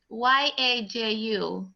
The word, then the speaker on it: Yaju: Oh, then her name is Y-A-J-U. Yes. How do you pronounce the name? It's Yaju.